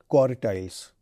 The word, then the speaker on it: quartiles: Please be careful in my pronunciation, quantiles and quartiles.